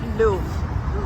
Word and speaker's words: Louvre: Getting into the Louvre Museum, or we call it Louvre. The French pronounce it Louvre, Louvre Museum. I'm loving the French pronunciation.